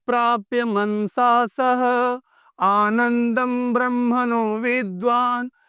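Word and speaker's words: आनन्दं: होता है याद रखिएगा हिंदी में न और संस्कृत में म ठीक है तो आनंदम फिर से यतो वाचो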